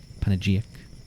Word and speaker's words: panegyric: Is that how you pronounce that word? Panegyric?